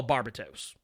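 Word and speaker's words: Barbatos: a supernatural demon actually call Barba toes and that's how it's pronounced and that is House pronounced now Snyder can pronounce whatever the he wants but I'm a pronouncing the way the actual supernatural demon in in demonology is actually pronounced so there you go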